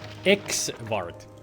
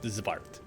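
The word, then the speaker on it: xvart: X-Vart. Yes? X-Vart. It's pronounced Zvart.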